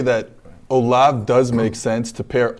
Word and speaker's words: Olave: Everybody who really knows him calls him Olave. Yeah. There's no accent on the E, obviously.